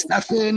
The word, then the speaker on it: Stephen: His first name is Stefan, like it's spelled Stephen, and he's from that area.